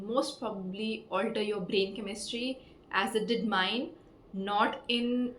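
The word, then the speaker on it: Camus: First pick book up आई डिड not know how to pronounce the author's name. So, आई was going around making a video saying the stranger by Albert कैमस। However it's Albert कमु्स more French more posh.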